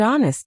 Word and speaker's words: honest: Some learners also pronounce every letter, but English often has silent letters. For example, knife silent K, island silent S, and honest silent H.